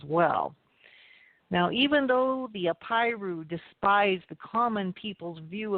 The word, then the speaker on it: Apiru: And that word was the Apiru. And I'll spell that. It's A-P like Paul, I-R-U, the Apiru.